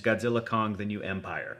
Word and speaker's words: Godzilla x Kong: The New Empire: director, Adam Wingard, said the official out loud pronunciation is Godzilla Kong, the New Empire.